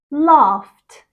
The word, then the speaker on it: laughed: of these verbs and pronounce the Ed as a t sound number one jump becomes jumped jumped I'm going to overe exaggerate a little bit okay talk becomes talked talked laugh becomes laugh laughed kiss becomes kiss kissed